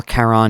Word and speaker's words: Charon: recorded the day before Charon was released or Caron if you pronounce it that way so that's why there's